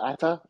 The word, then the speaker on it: Ata: Ata? Am I pronouncing that correctly?